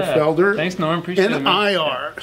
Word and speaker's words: Nir: N-I-R. So, but it sounds like N-E-A-R. It's pronounced Nir.